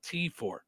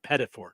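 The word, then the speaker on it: petit four: petite for pati4 yeah not not the second T but P4 yeah P4 yeah not P right not P I Always called called pet I always I always went petor those are my favorites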